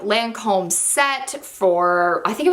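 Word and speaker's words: Lancôme: monthly favorite is the i never know how to say this correctly lancome i want us the like redneck in me wants to be like lancome but lancome i think is how you actually say it it's this c-i-l-s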